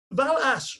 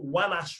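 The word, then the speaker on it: والعصر: Now, Val-Ash, or Wal-Ash as it would be in Arabic, the guidance transliterated it to the V.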